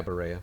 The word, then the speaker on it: Berea: It's Berea. Berea City Council in. Berea. It's Berea. Do you know that for sure, or are you making an assumption? It's Kentucky. So? It's Berea. It's spelled Berea. Berea. Okay. That's how you have to say it.